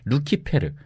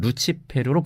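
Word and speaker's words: Lucifer: 이렇게 루시퍼가 사탄의 이름이라는 관념은이 구절의 헬레 라틴어 성경에서는 루키페르 혹은 루치페르로 번역된 데에서 비롯된 건데요. 루시퍼는이 루키페르의 영어식 발음입니다.이 단어가 원래 라틴어에서 가졌던 사전적 의미 역시 새벽의 금성입니다.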